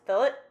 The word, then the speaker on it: fillet: And despite this being the spelling of the word, it's pronounced fill it, not filt because you're not filleting a fish, which annoys me.